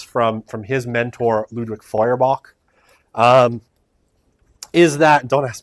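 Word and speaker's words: Feuerbach: he's getting this from from his mentor Ludwig foyerbach um is that don't ask me to spell it it's German um actually I think it's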